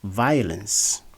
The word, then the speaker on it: violence: the word disis a so the word is pronounced as violence violence instead of violence uh this is our